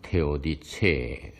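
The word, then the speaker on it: Theodizee: 지금 먼저 말씀드릴 내용은 라이프니츠의 신정 정치, 즉 테오디스이, 독일어로는 테오디체 그렇게 발음합니다.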